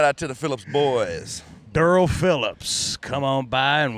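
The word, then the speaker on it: Derl: Me and one of my best friends, white trash name, Durrell. Durrell. Not Daryl, but D-E-R-L.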